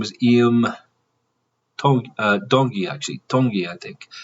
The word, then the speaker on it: Tongi: Tongi, I think. It's pronounced kind of like with a hard D, he was saying.